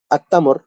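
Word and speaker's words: التمر: আত্তামর, তামরুন অর্থাৎ একটি খেজুর। তার পরিবর্তে যখন আমরা এখানে আল প্রবেশ করবো আত্তামরু, তখন কি হবে? আল উচ্চারণ না হয়ে সরাসরি তাটা উচ্চারণ হয়েছে, লামটা উচ্চারণ হয়নি।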